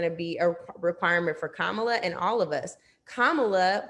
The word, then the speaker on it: Kamala: to Justice Sotomayor, but she said her name wrong from the get, right? Kamala.